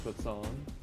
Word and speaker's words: croissant: It's actually croissant. And the T is silent.